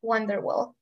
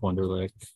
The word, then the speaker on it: Wunderlich: we go with Wonderwall and I'm sorry about mispronouncing your last name if difficult uh sorry I just joined so Wunderlich with Latter-Day Saint charities so